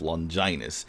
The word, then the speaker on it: Longinus: into play is with the item spear of Longinus and yes that's how it's pronounced so what happens is with Max's ultimate